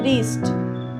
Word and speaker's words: wrist: Number 2, wrist, W is the silent letter.